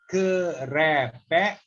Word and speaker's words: kerepek: Kerepek ubi. Kerepek means 3-syllable word.